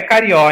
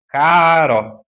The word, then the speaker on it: Caró: As e acento agudo, não é carió, hein? Caró. Pronuncia direitinho, não faz feio. Esses dias eu tive que me segurar para não corrigir uma repórter de um certo canal de televisão. Fala direitinho o nome, é Caró.